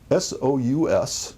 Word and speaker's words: sous: S-O-U-S, sous like sous chef, S-O-U-S.